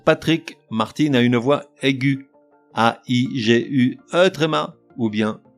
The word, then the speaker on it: aiguë: À noter que l'on prononce gu, le E restant muet, au contraire des mots